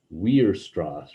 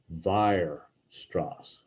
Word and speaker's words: Weierstrass: and they might say we're strauss or something like that but um it's a german name that the w is actually pronounced like a v so vire strass okay virustras he was a mathematician